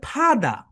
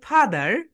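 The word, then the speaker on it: father: ব্রিটিশরা কিছু জায়গায় আর এর উচ্চারণ করে কিছু জায়গায় করে না।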